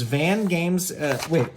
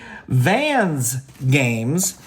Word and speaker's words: Vans Games: Again, as I said, you can go to the website, which is Van Games. Let me make sure I'm saying it correctly. Vans Games.